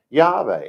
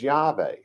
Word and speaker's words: Yahweh: name and it was yahweh and it's not it's not pronounced with a w the w comes from